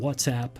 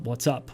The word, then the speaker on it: WhatsApp: that all of the starting with ICQ and whatsapp and by the way it's pronounced whatsapp not what's up what's up means hello and whatsapp means it's